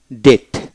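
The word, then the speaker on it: debt: প্রতিটা শব্দ ডিই বিটি ডেট ডেট এখানে বি উচ্চারিত হবে না ডি ও ইউ বিটি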